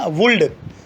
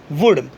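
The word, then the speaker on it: would: देखते हैं, शुड, वुड, कुड, talk, ऐसे नहीं बोलना, वुल्ड, शुल्ड, कुल्ड, ठीक है। कल मैं इंग्लिश पढ़ा रहा था तो एक लड़की प्रोनाउंस कर रही थी वुल्ड, ऐसा नहीं होता कभी भी वुड। क्यों? क्योंकि डी के जस्ट पहले एल है तो यहाँ पर एल साइलेंट होगा।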